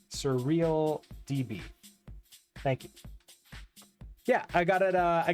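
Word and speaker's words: SurrealDB: that except you so it's not actin web it's act Dix web please and not surre e surreal DB thank you yeah I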